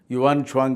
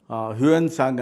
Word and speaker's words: ಯುವಾನ್ ಚವಾಂಗ್: ಇನ್ನೊಬ್ಬ ಯುವಾನ್ ಸ್ವಾಂಗ್ ಅಂತ ಹಿಂದೆ ಅದನ್ನ ಯುವಾನ್ ಚಾವಾಂಗ್ ಅನ್ನೋ ಒಂದು ಪದವನ್ನ ಹುನ್ಸಾಂಗ್ ಅಂತ ತಪ್ಪಾಗಿ ಉಚ್ಚಾರಣೆ ಮಾಡ್ತಾ ಇತ್ತು ಮೂಲ ಉಚ್ಚಾರಣೆ ಯುವಾನ್ ಚವಾಂಗ್ ಅಂತ ಅವರಿಬ್ಬರು ಕೂಡ ಬಂದರು ಐದನೇ